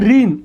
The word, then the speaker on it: ঋণ: আছে ঋণ, উচ্চারণ কী হবে? রসিকার রি। এখানে একটু খেয়াল রাখবে, মূর্ধন্য কিংবা দন্তন্য থাকলে তার উচ্চারণ হয় দন্তন্য। তাহলে ঋণ বানানে কি মূর্ধন্য হবে না দন্তন্য হবে? অফকোর্স এখানে হবে দন্তন্য। আর যেহেতু ঋণ শব্দটা আমরা বলি ঋণও বলি না, কি বলি? ঋণ।